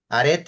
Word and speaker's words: arete: the other one that how do you spell that arete is a r e t e arete